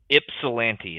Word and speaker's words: Ypsilanti: Ypsilanti is how you say it, apparently.